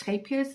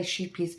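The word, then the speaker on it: Scheepjes: I am doing mine in, I'm doing the bear, and I'm doing mine in the scapias, stonewash. That's how you pronounce scapias.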